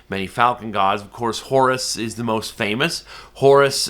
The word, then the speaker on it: Horus: pronounce his name Horus they pronounce it hor h o r Horus is the Greek version because later on the Greeks came in and began ruling Egypt and they added the US on the end but Horus is is